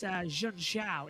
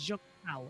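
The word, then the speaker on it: Junção: you round it into Juncao. Or Jack as Clark, David Croft, by the way, does say it wrong. He says Jun Xiao. It's not. It's Jun Xiao.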